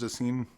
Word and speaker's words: Dassin: I think one of the great things Jules Dassin, how do you say the last name?